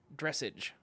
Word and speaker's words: dressage: Dressage, which is how it's pronounced.